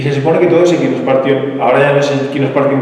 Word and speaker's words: Echinospartium: Es el Equinospartium barnabesi, acabando en sin latina, ¿vale? Equinospartium se escribe Echinospartium.